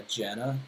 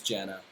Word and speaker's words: JVNA: there's an artist that was gonna play "Get Lucky" for us, who goes by Jana. It's spelled JVNA. Her Hmm. name's Jana, and she was a big Twitch streamer like before all this went down.